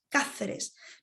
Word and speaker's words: Cáceres: En Cáceres, make sure you pronounce stronger with the A, Cáceres.